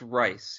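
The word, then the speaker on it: Reis: Yvonne Rice? Oh, Steve, we pronounced it right once, didn't we? It's Rice, yeah.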